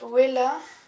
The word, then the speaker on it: Wella: Donc c'est de la marque Wella ou Vela, ça dépend comment vous le prononcez.